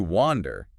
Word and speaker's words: wander: Now to wander a ho sound.